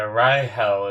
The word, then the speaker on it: Rahel: Yeah, Rahel is how you like say it, how they say it, but I think I'm just gonna call her Rachel.